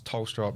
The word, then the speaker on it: Tholstrup: But it's like like TH, like the H is silent, so it's Tholstrup.